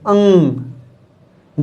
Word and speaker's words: अंग: जब हम इसका उच्चारण करते हैं अंग का, तो इसका उच्चारण करते समय नाक से हवा निकलती है, मतलब कि ये आगे स्वर है और पीछे क्या है, पीछे न है।